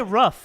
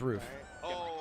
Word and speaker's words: roof: You say rough. It's roof.